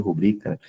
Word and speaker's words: rubrica: Então, a rubbrica, né, eu pronuncio rubrica, a importância dela, né,